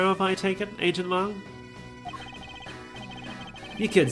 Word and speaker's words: Lang: I used to call him Shilong Lang, but I have since learned that his name is supposed to be Chinese, and the Chinese pronunciation of it is Long and not Lang.